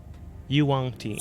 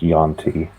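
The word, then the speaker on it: yuan-ti: Yuangti. Snake person. Snake person. Snake person. Yeah, that. It's just pronounced Yonti. I mean, it's spelled that way. Where in the world do you get the U?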